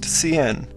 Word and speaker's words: cin: takes the statement C which is pronounced CN as you might guess